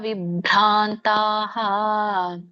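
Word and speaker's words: ವಿಭ್ರಾಂತಾಃ: 16ನೇ ಶ್ಲೋಕ ಅನೇಕ ಚಿತ್ತ ವಿಭ್ರಾಂತಹ ಮೋಹಜಾಲ ಸಮಾವೃತಾಹ ಪ್ರಸಕ್ತ ಕಾಮ ಭೋಗೇಶು ಪತಂತಿ ನರಕೆ ಕೇಶುಚ ಇದರ ಒಂದು ಉಚ್ಚಾರಣೆ ಅನೇಕ ಚಿತ್ತ ವಿಭ್ರಾಂತಹ ಒಂದೇ ಪದ ಮಾಡಿ ಕೂಡಿ ಹೇಳಿ ಅನೇಕ ಚಿತ್ತ ವಿಭ್ರಾಂತಹ ಭ ದೊಡ್ಡ ಬ ಇದೆ ವಿಭ್ರಾಂತಾಹ ಮೋಹ ಜಾಲ ಸಮಾವೃತಾಹ ಬಿಡಿಸಿದಾಗ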